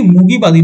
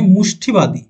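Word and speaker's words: মুষ্টিবাদী: বা পিউগিলিস্ট বলা হয় এটা একচুয়ালি মুগিবাদী নয় মুষ্ঠিবাদী ঠিক আছে উচ্চারণটা এটা হবে মুষ্ঠি তো দেখো এটা শুনেই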